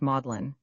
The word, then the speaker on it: Magdalene: In England, the word is pronounced modellin whence modlin adjective unpleasantly sentimental. With their modlin for Magdalene and their